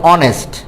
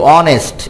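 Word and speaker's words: honest: অনেস্ট, এখানে অনেস্টে এইসের উচ্চারণটা আসে নাই, তাই এটা হয়েছে অ্যান।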